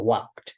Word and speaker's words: walked: Entonces, en ese caso, para que no pueden decir I walked, entonces ahí no se pronuncia la E, solamente se pronuncia esa K y D al final, walked, ¿ok?